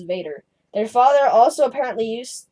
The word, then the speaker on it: Vater: John pointed out that for most of his childhood, he and his siblings called their father Vater, or more commonly pronounced as Vader.